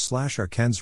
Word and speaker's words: Arkansas: It should be pronounced in 3 syllables, with the final S silent, the A in each syllable with the Italian sound, and the accent on the first and last syllables.